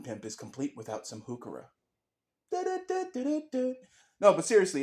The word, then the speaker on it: Heuchera: because what Garden pimp is complete without some hookura no but seriously it's spelled h-e-u-c-h-e-r-a but it's pronounced pukara it's named for someone believe it or not